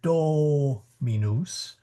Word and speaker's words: dominus: earlier in the class, you will hear the the dominus because that is the accented syllable and it's natural in English to make a accented syllable the vowel long. Um but it's actually a short O.